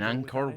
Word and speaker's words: Angkor: In Angkor Wat.